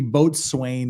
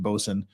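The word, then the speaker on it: boatswain: told to find the bsen and the the boat Swain it's a it's now pronounced bosen find the bosen and have him get the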